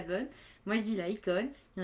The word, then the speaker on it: Ycon: moi je dis la icon il y en a qui disent la White com il y a aussi la Recon donc voilà une nouvelle